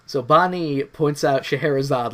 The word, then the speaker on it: Scheherazade: First of all, I have not seen Scheherazade. It's spelled nuts, first of all. Yes, it is. I have heard Sherazade, which is a much shorter version of the same name for this character, but yeah, it's like,